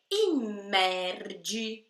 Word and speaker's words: immergere: Então você não diz immerge, você diz immerge. Você dá uma ênfase bem forte para essa doppia M, e aí é o